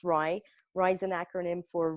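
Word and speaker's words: RIE: is Magda Gerber's philosophy it's pronounced rye rye is an acronym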